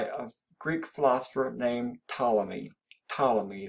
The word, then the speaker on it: Ptolemy: Greek philosopher named Ptolemy Ptolemy that P is silent and Ptolemy you said